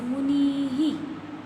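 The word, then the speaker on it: मुनेः: भी ही, मुनि भी ही, मुने हे, ए के बाद विसर्ग, ए के बाद ह का प्रोनाउंसिएशन।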